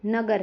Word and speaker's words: नगर: जैसे कमल है, नगर है। इन शब्दों में म और ग पे ज्यादा जोर दिया जाता है।